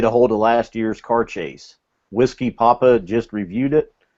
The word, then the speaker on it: Auchentoshan: Now it's I would pronounce it Cardias, but it's car chase or Cardass. That's what it looks like. Yeah, it's once I did some research into it, they said the easiest way to pronounce it is just say car chase.